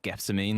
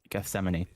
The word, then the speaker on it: Gethsemane: But it's like when people were going on about how to pronounce Gethsemane and everyone was saying like guessine and stuff and it was like no Gethsemane.